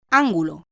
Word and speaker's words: ángulo: Ejemplo: ángulo. La palabra ángulo, de 3 sílabas, es esdrújula porque tiene la fuerza de acentuación en la antepenúltima sílaba, es decir, la sílaba anterior a la penúltima, an.